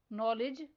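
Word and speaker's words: knowledge: Next word है नॉलेज। इसमें silent letter के और साइलेंट लेटर डी पर सर्कल करना है।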